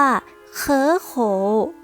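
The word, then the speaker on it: 可口: ข้อ สุด ท้าย ค่ะ อ่าน ว่า เคอะ โข เคอะ โข คำ นี้ เนี่ย เพื่อ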